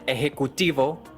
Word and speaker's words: ejecutivo: Plus, they've got those J sounds, which are like a throaty H.